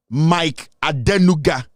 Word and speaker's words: Mike Adenuga: right I don't want to uh pronounce somebody's name wrongly his name is Mike Adena Mike adenuga the chairman of glow glow this is the